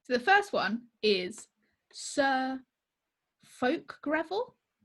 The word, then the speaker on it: Fulke: So the first one is Sir Folk Greville. It's spelt Fulke. So I would go with folk.